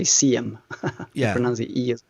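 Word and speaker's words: SIEM: pronounce it if you're i think it's pronounced sim in english or american uh yeah in sweden we say cm yeah sim um so what's the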